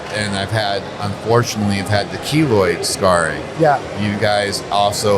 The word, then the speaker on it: keloid: Yes, keloid.